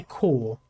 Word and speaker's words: Corps: It's weird that we say Corps. Like, we typically don't pronounce the P. If we were to say Corp, that would actually be short for corporate. We often say Corps, like Marine Corps, and so forth.